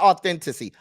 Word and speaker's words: authenticity: Not authenticity. Authenticity. Say it with me again. 5 syllables, sir. 5 syllables. Authenticity.